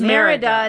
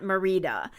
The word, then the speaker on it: Merida: as I expected you talked about the name of Merida not Merida and mentioned the name